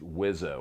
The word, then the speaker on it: WSO: I'm a WSO, pronounced Wizzo, Weapon Systems Officer, which means I control the air-to-ground munitions and targeting systems to keep it simple.